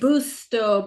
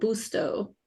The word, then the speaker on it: Busto: Aari, how do you say it? BTO. B U S T O BTO.